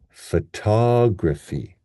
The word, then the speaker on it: photography: syllable becomes f, and the stress here is on the tog, riffy, riffy. Right? We have another schwa here. So we have photography, photography.